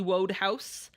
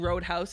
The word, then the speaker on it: Wodehouse: Wodehouse. That's how it's spelled. I'm not saying Roadhouse.